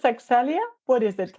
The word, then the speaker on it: Accelya: But I guess it's Axelia. What is it like? The hack that I use is it's like accelerate.